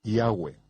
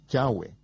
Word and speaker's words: Yahweh: ni siquiera lo sabían yo pronuncio su nombre yahwe yoos dijo que había cuatro vocales sobre la mitra del sumo sacerdote yot he va he que son pronunciadas como vocales en un solo respiro yahwe fluido yahwe en la literatura griega